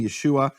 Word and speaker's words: Yeshua: Meaning, there's no question from any serious scholarship about how to pronounce that name, Yeshua.